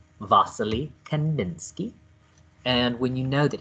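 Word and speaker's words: Wassily Kandinsky: you can that you succeeded when you can pronounce his name vasily kanninsky and when you know that he is the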